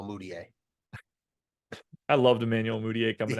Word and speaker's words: Mudiay: No, I'm just giggling to myself that Stanley Amudier rhymes with Emmanuel Mudiay.